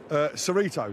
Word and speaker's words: Cerrito: This is the gathering involved with Chirito or Cerrito, I'm not sure. I'll get confirmation from Harry Finley, who is the owner. How do we pronounce this? Cerrito. It's named Cerrito.